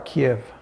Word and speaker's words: Kyiv: Am I pronouncing it right? You are Kiev.